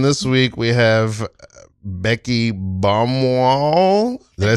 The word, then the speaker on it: Baumwoll: In the classroom this week, we have Becky Baumwoll.